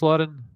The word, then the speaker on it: Lauren: Was it just pronounced Lauren?